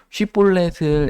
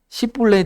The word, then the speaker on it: 쉬볼렛: 그래서 쉬볼렛을 에브라힘 사람은 쉬라는 단어가 안 돼서 십볼렛 이렇게 발음합니다. 그래서 그 발음을 해라.